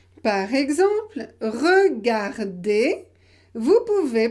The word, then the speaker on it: regardez: peu les appels appelé souvent on le supprime à l'oral souvent on ne le prononce pas à l'oral par exemple regardez vous pouvez prononcer regardez